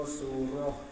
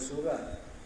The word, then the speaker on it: surah: Dan setengah daripada sunat hai'ah yang amat banyak membaca surah pada imam, membaca surah, bukan baca surat. Baca surat tu lain tu. Dia tuliskan dengan ta, tapi bacanya surah.